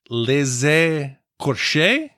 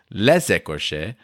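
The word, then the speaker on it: Les Écorchés: And then I remembered that if there's an E at the beginning of the second word, then you pronounce the S at the end of the first word. So it's les écorches.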